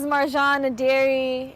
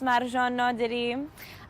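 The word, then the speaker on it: Marjan Naderi: a documentation hello everyone my name is marjon dairy in farsi it is pronounced margin no diri i am an afghan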